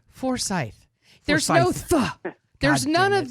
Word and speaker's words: Forsythe: name is a force i want to say foresight but there's no t right it's forsythe with a ch gotta go no you don't have to thaw you just say forsythe there's no there's none